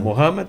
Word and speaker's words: Mohammed: Mohammed ou Maomé. ou Maomé, Uhum. né? Mohammed. Eu pronunciei certo?